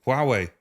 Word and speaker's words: Huawei: So now we see with, I never know how to pronounce it, Huawei, is it Huawei? Huawei.